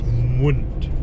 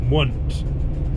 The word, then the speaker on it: Mwnt: I keep saying Mwnt in my northern accent, but it's MW, Mike Whiskey. So it's Mwnt, Mwnt, Mwnt, Mwnt, like bueno, Mwnt.